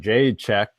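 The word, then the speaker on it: Jędrzejczyk: And Jade check. There you go, Corey. That's how you pronounce it.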